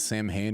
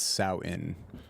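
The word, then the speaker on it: Samhain: admonished uh by the edit Bay it's not Sam Hayne it's souten oh who cares that's how you pronounce it but it's spelled Sam hey yeah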